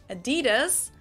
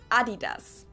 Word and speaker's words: Adidas: Pronounce it Adidas, and in Germany we say Adidas. Adidas, Adidas. Super different.